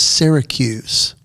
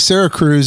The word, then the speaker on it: Syracuse: I'm like, "You mean Syracuse?" And he goes, "No, it's pronounced Sarah Cruz." Sarah Cruz. And I was like, "Wait a minute, whoa. Where's the other R?"